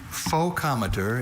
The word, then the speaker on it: focometer: Focometer is the only pronunciation of this noun.